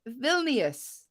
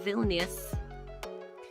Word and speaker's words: Vilnius: here we go next question how do i pronounce this phil n vilnius vilnius v-i-l-n-i-u-s vilnius is the capital of bosnia